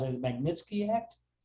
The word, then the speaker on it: Magnitsky: It led to this, I don't want to mispronounce it, the Magnitsky Act? Magnitsky, yeah.